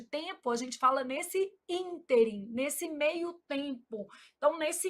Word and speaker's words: ínterim: Então, nesse ínterim, a palavra íntere apresenta erro de prosódia. Erro de prosódia também é chamado de silabada. Então, a palavra interim apresenta erro de prosódia quando pronunciada como oxítona, que aí a pronúncia seria interim.